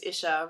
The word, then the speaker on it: Isha: people, I'd say, hi, my name's Isha, rhymes with fish, because otherwise people mispronounce it.